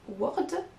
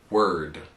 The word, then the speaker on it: word: L'un comme l'autre, on a souvent envie de prononcer un O, parce qu'il est écrit, mais en fait, on ne l'entend pas. Donc, on n'entend pas work ou word, mais... Work and word.